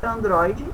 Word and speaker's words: Android: Então, a gente escreveu novamente Android, o mais forte é o DRO, que você vai sublinhar ou circular, e você vai indicar, era paroxítona, proparoxítona ou oxítona.